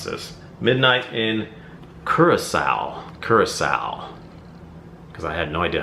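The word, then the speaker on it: Curaçao: this midnight in Curacao Curacao because I had no idea how to pronounce that I was pronouncing it wrong I'm sure it's not currico it's Curacao it's got purple wax this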